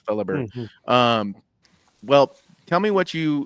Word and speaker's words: Fellhaber: So the H is silent. Fellhaber.